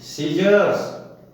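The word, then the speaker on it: scissors: यदि कोई शब्द एस से प्रारंभ हो और उसके तुरंत बाद सी तथा सी के बाद आई आए तो सी का उच्चारण नहीं होता है।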